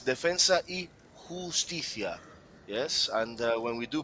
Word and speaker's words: Defensa y Justicia: Well, and for all of you guys just watching this game from home, let's just get the pronunciation for this Argentina side correct. It's Defensa y Justicia.